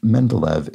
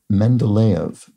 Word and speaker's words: Mendeleev: points out regarding pronunciation the name I pronounced Mendeleev is pronounced Mendeleev so thank you for